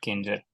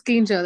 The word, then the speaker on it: Kinjal: First time I realized your spellings are Kinjal not Kinjer. I don't know how do you pronounce your name. No, it's Kinjal actually.